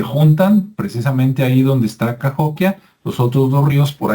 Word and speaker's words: Cahokia: cahokia qué es cahokia que se escribe kokia verdad c a h o k i a pero en Estados Unidos es cahokia y es un lugar